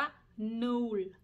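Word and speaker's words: nul: เล็ก 0 นะ คะ เลข 0 เนี้ย อ่าน ว่า นูน ตัว สละ นะ คะ ตัด สระ อึ ภาษา ดัตช์ อ่ะ เนี่ย ไม่ ทำ ป่า เออ เออ สระ อือ เรา พูด แล้ว ทำ ปาก ยิ้ม แต่ พูด เป็น ภาษา อาร์ท สะอึก ต้อง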